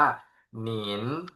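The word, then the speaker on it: 您: ตัว นี้ นะ ครับ เนอ อิน นิน เสียง 2 อ่าน ว่า หนิ นะ ครับ หนิ แปล ว่า คุณ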